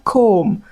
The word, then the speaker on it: comb: Also, we have a gentle comb until then we have as the womb left behind. So when words end with M and B, focus on the M, ignore the B.